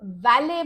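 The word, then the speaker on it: valet: breath fresh ना वले अब वले बोलते वक्त टी साइलेंट है तो वले वो व्यक्ति होता है जिसका काम गाड़ी को पार्क करना होता है फिर वो चाहे होटल में रेस्टोरेंट में या कहीं और भी हो सकता है जैसे कोई कॉन्फ्रेंस हल हो कोई बिजनेस फैसिलिटी हो तो वले प्रोनाउंस करते वक्त टी साइलेंट है यह याद रखिएगा इसका वाक्य में हम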